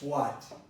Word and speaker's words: what: Listen to this what. What time is it? What time is it? I didn't pronounce the H. I could have pronounced the H. I could have said, what time is it?